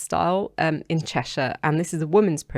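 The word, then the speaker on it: Styal: was in hmp style I think it's pronounced style um in chesher and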